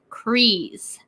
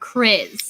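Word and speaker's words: Kryze: your problem not mine it's bogatan crees not chris atj in the house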